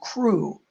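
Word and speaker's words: Kru: It's spelled K-R-U, Crew.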